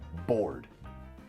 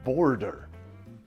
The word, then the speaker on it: bored: to talk about is board this is tricky because it only has one syllable but but you don't say border border is the line